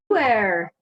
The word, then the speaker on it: pu'er: That sounds kind of like, I don't know, French or something. Like an airline, pu'erh.